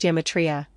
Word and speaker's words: gematria: The G functions like a Y in Greek, i.e. euro is pronounced euro, so gematria is pronounced geometria.